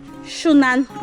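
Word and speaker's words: Xunantunich: Now the X in Maya is always pronounced as sh.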